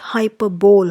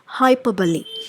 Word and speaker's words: hyperbole: named as hyperbole and please remember the right pronunciation is not hyperbole hyperbole is wrong the right way to pronounce this is hyperbole so this is an exaggerated way in which